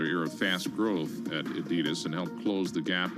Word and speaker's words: Adidas: Adidas is you well it's a family name so it is pronounced Adidas technically but even the company says Adidas in this country they're